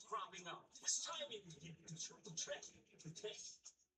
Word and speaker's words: Utrecht: How do you say it? I know it's not bad. Utrecht. That's it. That's the one. That's the official pronunciation.